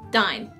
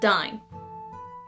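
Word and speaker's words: Dáin: "Dine." What? It's pronounced, "Dine." It wasn't in the film. D: Gandalf mentioning that...*sigh*... Dain (pronounced Dine) was if anything harder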